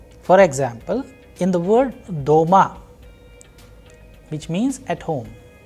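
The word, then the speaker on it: дома: For example in the word doma which means at home the vowel sound o is pronounced with greater force.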